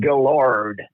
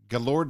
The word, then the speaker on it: Guellard: my last name is pronounced Guellard. Guellard, like the Lord. Guellard. Like the Like pig lard, fat.